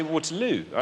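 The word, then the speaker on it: Waterloo: like Porter l no I say water L and that's where I I like I choose to put my stress there waterl on the third syllable think about the chorus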